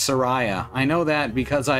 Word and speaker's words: Soraya: i didn't know what rhymes with they call the wind mariah announced it skulltula